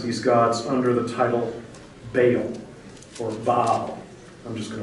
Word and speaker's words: Baal: They worship other gods, and the title that the text gives to this god that she worships we usually pronounce this Baal.